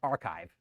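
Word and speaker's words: arXiv: They're all you can they're often on the archive, but pronounced archive.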